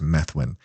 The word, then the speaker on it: Methuen: disoglio a Democrat from menthwin Methuen I think it's pronounced Methuen was tacked onto a